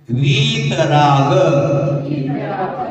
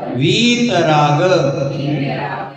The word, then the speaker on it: वीतराग: वीतराग, वीतराग, देखो वी को बढ़ा दो, दीर्घ कर दो, वीतराग।